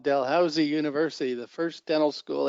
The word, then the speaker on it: Dalhousie: um from canada correct yeah no one can pronounce it it's called dalhousie university the first dental school in canada ever